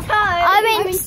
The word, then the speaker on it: Tye: But I'm definitely going to change it because everyone pronounces it Tar and Tau and it's all weird.